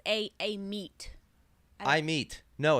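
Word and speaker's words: Amit: meet you you said you said e meet I did not say that Kevin I said I meet I have trained my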